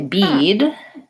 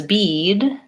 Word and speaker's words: bead: seed, or let's say bead, in the words bead and bid, both of those vowel sounds are held for a longer duration because there's a voice sound at the end.